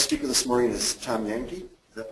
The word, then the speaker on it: Yankey: Our next speaker this morning is Tom Yankee. Is that pronounced right, Tom?